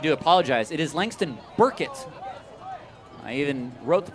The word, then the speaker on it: Burkett: It is Langston Burkett. I even wrote the pronunciation myself on my guide.